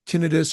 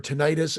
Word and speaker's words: tinnitus: And, you could say tinnitus or tinnitus, and neither are incorrect. They're both accepted. They're both right.